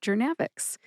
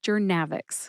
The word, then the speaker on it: Journavx: and Kelly was telling attendees, including myself, about Jernavix. When she found out about this podcast and the drug pronunciation series, she nominated Jernavix.